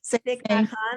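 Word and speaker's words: Thích Nhất Hạnh: Thich Nhat Hanh, I think is how it's said.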